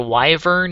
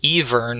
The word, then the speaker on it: wyvern: I've heard it pronounced even also i don't know why but oh well like the W is silent and the Y sounds like an e so even the bow